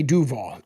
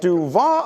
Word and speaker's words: Duval: Is the emphasis on the wrong syllable there? Like, isn't it supposed to be Duval? Like Duval? Right? Like Duval.